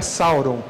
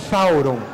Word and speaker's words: Sauron: Um fato interessante é que a pronúncia de Sauron correta não é Sauron, é Thauron. Thauron se escreve também com TH.